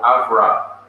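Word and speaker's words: אברם: Before he was called Abraham, he was called Avram in the Hebrew pronunciation. In the English pronunciation, we say Abraham.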